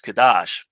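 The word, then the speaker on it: Kadosh: holy or sacred but more often than not in masonic circles it is pronounced kadash the significance herein is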